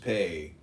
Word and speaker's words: Peh: Commentant Peh, P-E-H, pronounced pay, transcribed as P, the number 80, meaning mouth, the exciting intelligence.